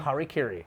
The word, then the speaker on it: harakiri: So a samurai comes to a feudal lord's place and requests to do, what's the proper pronunciation? Harakiri.